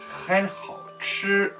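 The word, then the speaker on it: 很好吃: Enfin, c'est normalement même on prononce Ren hao chi.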